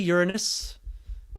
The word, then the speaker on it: Uranus: see with the naked eye we can't see uranus that's how you pronounce it we can't see neptune we can't